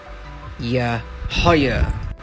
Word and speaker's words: Yahayah: How to pronounce Yahayah. Yahayah.